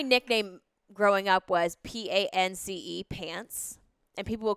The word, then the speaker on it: Pance: But yeah, that was it wasn't like pants like I'm wearing pants. It was pants that rhymes with Nance. and everyone called me P-A-N-C-E.